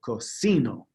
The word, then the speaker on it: casino: that so remember you you kind of want to emphasize the second to last syllable casino casino str to ski it